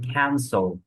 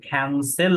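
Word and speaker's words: cancel: যেমন ক্যান্সেল, ঠিক আছে, উচ্চারণটা হবে ক্যান্সেল হবে না, ক্যান্সল হবে, ঠিক আছে, ক্যান্সল।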